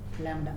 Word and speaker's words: Lambda: okay lamb expression there is no pronunciation of B Lambda okay Lambda expression so